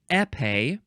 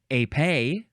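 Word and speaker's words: épée: word is pronounced either epe or AE emphasize either syllable epe or AE spelled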